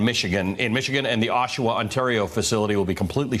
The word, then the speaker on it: Oshawa: Keith, am I mispronouncing it? Is it Oshawa? Yeah, Oshawa. That's all right.